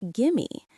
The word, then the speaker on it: give me: We often connect the words give and me together. It sounds like gimme.